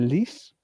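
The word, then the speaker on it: Lys: la batalla de la Lis en el 18 en Francia. La li sería eh sería la pronunciación correcta, ¿no?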